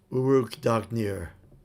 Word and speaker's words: Uruk Dagnir: And to pronounce it, it's Uruk Dagnir.